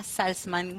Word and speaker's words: Salzman: con Víctor Tarico y Salzman. Hola, chicos, ¿cómo les va?